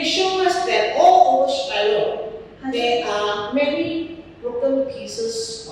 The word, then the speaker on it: Shiloh: to a place called Shiloh. 我们就去了一个地方， And of course, they pronounce it as Silo.